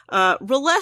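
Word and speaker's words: R'lyeh: go with that and I apologize I've always pronounced this Riley which is not right at all but that's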